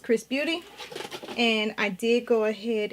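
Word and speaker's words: XRS Beauty: foreign it says XRS but it's pronounced Chris Beauty and I did go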